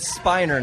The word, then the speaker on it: Spiner: a couple hours where we pronounce it Spiner not spinner he's from Houston by